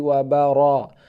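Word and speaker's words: وبركاته: ya Assalamualaikum Warahmatullahi warahmatullahi wabarakatuh wabarakatuh roh-roh bukan wabara bukan wabara lebih wabarakatuh wabarakatuh Rimba roh al-baqarah al-baqarah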